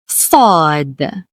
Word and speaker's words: ض: So so sod thud thud has no exact English equivalent. Fud is a heavy s sound produced with more pressure from the tongue making it deeper than the usual s in sun.